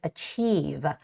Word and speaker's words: achieve: community can achieve achieve the stress goes on the i and e part which is achieve achieve Okay so I'm